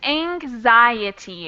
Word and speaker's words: anxiety: you're right yeah it's anxiety it's pronounced like a z even though it's spelled with an x any other questions no